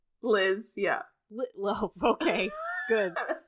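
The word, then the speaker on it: Leezh: rash and Le l e e z h Liz yeah lit Lo okay good that's how they pronounce so he's going to steal Stacy away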